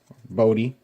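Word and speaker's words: Bote: I was calling David Bodie, and I don't know if it was bot or what, but I looked it up, and he pronounced it Bodie, so happy with myself about that.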